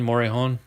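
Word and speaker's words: Morejón: mosaic rookie card for adrian morijon or most commonly known as adrian morihon i just like to put the little hispanic accent in there the latino pronunciation and then there's this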